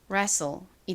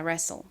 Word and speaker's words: wrestle: 전에 무음 수업에서 설명드렸던 것처럼 WR이 연달아 나온 경우에는 어떤 것이 묵음이죠? 가장 w가 무음으로 소리가 나지 않아요. 그러니까 R의 리얼 소리로 시작을 하겠죠. 다음 e는에 소리 나고요. ST는 솔 소리 나니까 wrestle이 됩니다. wrestle 발음 연습 같이 해 볼까요?